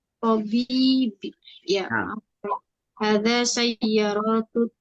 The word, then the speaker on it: طبيب: Hadza sayyaratun thayyibi. طبيب bacanya. Tabibi.